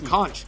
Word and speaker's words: conch: This, and actually, here's, let me throw a curveball, the conch.